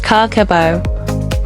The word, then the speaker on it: Kakeibo: Kakeibo, pronounced Kakeibo, literally means household finance ledger.